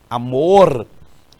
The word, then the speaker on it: amor: formas e nomes também amor por exemplo amor que deve ser pronunciado assim amor é amor e nós aqui no Piauí também utilizamos essa pronúncia sem o r já perceberam também